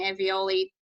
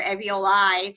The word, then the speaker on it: alveoli: I keep mispronouncing alveoli to be much, or alveoli to be much closer to ravioli.